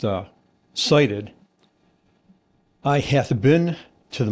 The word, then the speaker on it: SIDIT: So, si ti d pronounced uh cited.